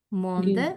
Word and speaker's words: monde: Habíamos dicho que la E final, si no tiene acento, no se pronuncia. Entonces, Andrea, ¿cómo pronuncio mundo y guía? Manda. Monde, muy bien, y guía.